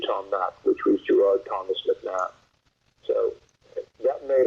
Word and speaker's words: Gerard: my name was because my mother would say Gerard, and my dad's Irish, he'd say. So the pronunciation was different between the, but then the nun, when I was going to school, pointed out, oh, it's Gerard.